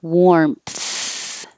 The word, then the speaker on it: warmth: keep the airflow going warmth warmth it looks like an a but it sounds like an o in this case i know this looks